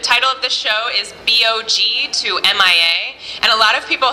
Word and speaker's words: BOG-MIA: of this show is bog to M.I.A and a lot of people have asked me how to pronounce the title of the show so that's what it is and the reason it's